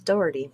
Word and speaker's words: Daugherty: d-a-u-d-h-e-r-t-y you know because obviously they're pronouncing this more like it's sound sounds doherty yes do you think